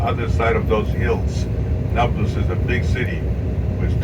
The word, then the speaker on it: Nablus: city neopolis became nablus the arab cannot don't pronounce they cannot pronounce the letter p every p becomes a b in arabic so it's naples and that's samaria you